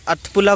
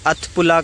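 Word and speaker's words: अठपुला: अथपुला कुछ इस तरीके से प्रोनाउंस करते हैं, अथपुला करके यहाँ पे मतलब पुल बना हुआ है।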